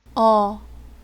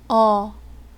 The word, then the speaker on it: 어: এই বর্ণটির উচ্চারণ হচ্ছে অ। বাংলাদেশ স্বর অ যে উচ্চারণ সেই অ। বর্ণটি উচ্চারণ করার সময় আপনার মুখের পজিশন এরকম থাকবে অ। চলুন এবার আমরা বর্ণটির উচ্চারণ শুনি। 어 어 ওকে, এবার আমরা পরবর্তী বর্ণে চলে যাই।